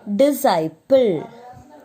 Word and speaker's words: disciple: Okay, and the next one is disciple.